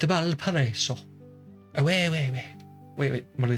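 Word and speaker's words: Valparaíso: It's Valparaiso.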